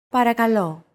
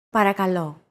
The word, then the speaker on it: Παρακαλώ: Παρακαλώ. Παρακαλώ. Chances are your pronunciation was pretty spot on. The P, R, K, and L sounds are practically identical to English.